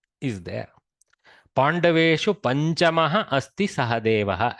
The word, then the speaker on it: Sahadeva: Pandaveshu panchamaha asti sahadeva. Accent is sahadeva, so he goes to the end nicely.